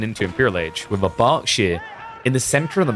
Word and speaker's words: Berkshire: And yeah, it's pronounced Berkshire. I'm a British person. Can authenticate. It's not the Berkshire. Or the Berkshire.